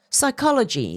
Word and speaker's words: psychology: the t is silent psychology the p is silent and certain procedural injuries